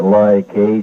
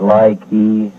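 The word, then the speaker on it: Lai Khe: Here we pronounce it Ly-K. Some people pronounce it Ly-Key.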